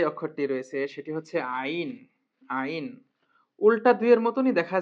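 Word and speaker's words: ع: দিকটা একটু এইভাবে বড় করা বাড়ানো এটা হচ্ছে আইন আইনের উচ্চারণ আছে আইন হলকের মধ্যে হতে গলা ছিপে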